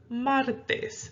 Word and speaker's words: martes: We have martes. Martes is the word for Tuesday in Spanish. Okay, so we have martes. Martes. See how I'm stressing it more on the mar.